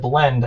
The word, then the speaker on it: blend: So you have to say it in one beat.